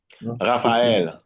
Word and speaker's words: Raphaël: Raphaël, Raphaël. Sofiane. Sofiane. You see F and P, H, giving us the F.